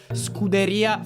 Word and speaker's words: Scuderia: Your pronunciation is strongly American. It's more Scuderia Ferrari. I'm still working on rolling my R's.